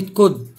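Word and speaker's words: could: بعد كده حرف ال مش هينطق لو جه قبليه او او يو. زي كلمة كود، كلمة وود، تمام.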